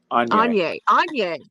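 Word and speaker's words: Aigner: So it's like, So yeah, I wasn't going to talk about the Agnew, but how do you say that correctly? Anye.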